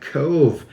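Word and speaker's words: Cobh: Emerald Isle Island where we are stopping at Cove um it's actually spelled c b h but it's pronounced uh cve by the locals and this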